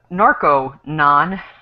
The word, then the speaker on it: Narconon: We should perhaps also point out that this is narco-non with an O, not to be confused with narc-anon, which is different.